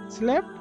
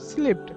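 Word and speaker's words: slept: আমরা কিন্তু বলি স্লিপ, স্লিপড, আমরা কিন্তু এভাবে বলি, যে বাংলাদেশিরা বলে স্লিপ, স্লিপড, আমরা কিন্তু এভাবে বলি, বাট এটার অ্যাকচুয়াল প্রোনাউন্সিয়েশন ইজ স্ল্যাপ্ট।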